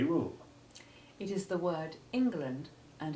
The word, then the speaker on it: England: course is all about the initial e in these words has none of the short e sounds we've been practicing it obviously can't be short e2 or short e3 because of its heavy stress but it isn't short e1 either it is unique having the full short i sound of the first letter in ingle which is an old